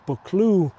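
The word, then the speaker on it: Buccleuch: A ravine is called a clue in Scotland and a young male deer is known as a book.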